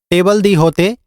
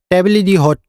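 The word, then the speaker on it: table d'hôte: टीडीएच मेनू जो है एक फ्रेंच वर्ड है जिसकी प्रोनाउंस जो है अलग-अलग होती है इंग्लिश में बोला जाता है टेबल द होते और फ्रेंच में बोला जाता है टेबली हॉट तो टीडीएच मेनू का मतलब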